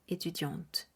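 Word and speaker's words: étudiantes: en t e s pero la pronunciación será etudiant por último estaremos hablando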